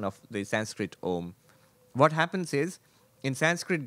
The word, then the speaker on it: Om: pronunciation of the Sanskrit Om. What happens is, in Sanskrit grammar, when you put an A and an U next to it, it joins and it becomes O.